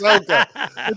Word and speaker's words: Ahsoka: Did you say Osaka? Whatever it is. Ahsoka. I don't know how to pronounce it. It's Star Wars. Made up. It's Ahsoka.